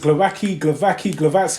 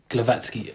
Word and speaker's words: Głowacki: I think Sky Sports said Glowacki. Glowacki. With a like a grr. That's mad. A Glowacki. Yeah. But I think it's Glowacki.